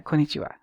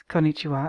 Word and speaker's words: konnichiwa: konichiwa and he says he pronounces it properly and I don't think I can do that but he says okay uh konnichiwa please repeat and then she says konnichiwa and he says perfect